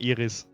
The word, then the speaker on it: Iris: Then please add your comments about ears about errors to the testimony or I because in German you pronounce the name Iris like the flower.